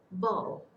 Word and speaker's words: bough: First one is bow. It's not a bow and the one like how the dog barks. And BOUGH is the branch, a branch of a tree.